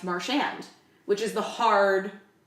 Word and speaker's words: Marchand: ago, and he said, I would prefer it pronounced Marchand, which is the hard, right?